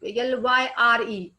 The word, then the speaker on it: lyre: pyre, pyre, or liar, you will find the spelling is y, but pronounced as um, ye is there. uh, sorry, lyre, y is pronounced here I, so lyre becomes liar.